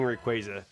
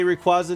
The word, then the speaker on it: Rayquaza: I say Rayquaza, not Rayquaza. Yeah, I always said Rayquaza too. But yeah, Pokemon corrected it like officially at one of their championships. And they're like, common mispronounced Pokemon names. And Rayquaza was one of them.